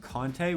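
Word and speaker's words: Conté: am going to be working with kante which is essentially a sharp chalk and it's spelled c-o-n-t-e this can be purchased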